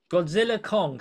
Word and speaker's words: Godzilla x Kong: It's a silent X naming thing. I believe one told Godzilla Kong.